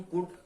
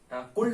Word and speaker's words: could: तो स्टार्ट करते हैं हम कुड से रिगार्डिंग। देखिए कुड, कुल्ड नहीं, COULD होता है, पर कुल्ड नहीं कहते हैं इसको। Pronunciation we have to speak correct pronunciation. So कुड क्या कहेंगे, कुड।